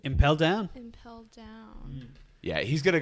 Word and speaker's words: Impel Down: Impel down.